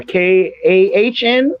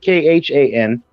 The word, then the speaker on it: Khan: So it's KAHN, I believe. Maybe KHAN. both names are, spelled the same.